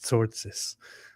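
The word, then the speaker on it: Tzortzis: It is Zortzitz, but it sounds very funny.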